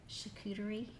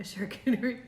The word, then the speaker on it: charcuterie: I love this word because I always say it wrong, but it's a charcuterie. Oh, a charcuterie Did I tray. say it Yes. right? No, you did good, yeah.